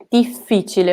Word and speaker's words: difficile: Difficile, okay? Double the F.